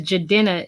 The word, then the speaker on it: Jadena: It says Jadena is the way you pronounce it.